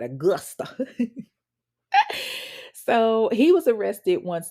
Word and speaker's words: Augusta: You got to say it like that, Augusta.